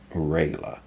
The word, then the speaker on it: Rejla: change it to Rejla, just because the J in Vieira naming conventions is sort of pronounced like an I in English. So Rejla would be Rayla.